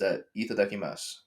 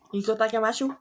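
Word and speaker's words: いただきます: The one that's been stuck in my head is the one that you say before you eat a meal, and it's itadakimasu.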